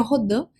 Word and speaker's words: Rodin: Mark Rodin, ou Rodin, como queira pronunciar, o certo seria Rodin, mas vou falar então